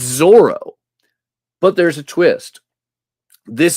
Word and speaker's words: Zorro: Because it's in French, you got to give the French pronunciation of Zorro. Of Zorro. Right. Zorro.